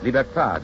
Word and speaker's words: libertad: Liberty is pronounced liberté in Haiti and Martinique. Libertad in the islands that still keep the Spanish tongue.